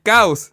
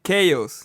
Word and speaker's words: chaos: Caos en inglés no se dice caos, se dice chaos.